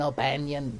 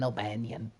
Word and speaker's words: O'Bannon: became known to dan o'banion so he hired him for alien dan albanian i just love that h.r giga couldn't pronounce dan o'bannon so he just keeps calling him dan albanian he was a ship